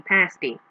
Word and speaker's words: pasty: in pasty-faced pas py it is apparently actually pronounced pasty to rhyme with nasty which is why one of the restaurants and pickaxes known as the nasty pasty um and so cooler